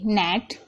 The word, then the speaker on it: gnat: अब देखिए GNAT, नेट, यहाँ पर आप देख रहे हैं, यहाँ पर शुरू में जी आ रहा है तो जी साइलेंट है।